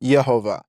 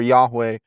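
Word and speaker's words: יהוה: Yeah, in Hebrew, it is pronounced Yehovah, but is very clearly, or Yahweh is another variation of that.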